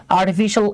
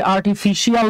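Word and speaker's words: artificial: AI means আর্টিফিশিয়াল intelligence. হ্যাঁ, আমরা অনেকে এটাকে আর্টিফিশিয়াল বলি, এটা শিয়াল না, উচ্চারণ হচ্ছে শল, শাল না কিন্তু বাবা।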